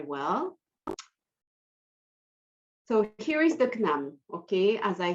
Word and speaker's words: Cnam: it's the canaan library so nam is the way we pronounce it it's a little bit complicated but you will get used to it eventually so nam